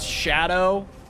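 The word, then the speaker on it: Scadu: So I'm really looking at the map and being like, I heard that Skadu is supposed to be pronounced shadow. My genuine response is, ain't no fucking way. Oh, it's Old English?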